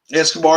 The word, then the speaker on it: Escobar: Escobar is out there too. That's how you pronounce it.